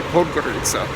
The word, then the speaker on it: Podgorica: I've always struggled on getting the pronunciation right. I finally think I'm saying it properly, Podgorica. But for years and years and years, and you might even notice that I pause and hesitate a little bit before I say it, because I would always get the emphasis on the wrong syllable.